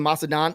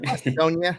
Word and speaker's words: Macedonia: overseas, or One's in Macedon. I think it's Macedon. I don't even know if I'm saying it right. Macedonia or something? Macedonia.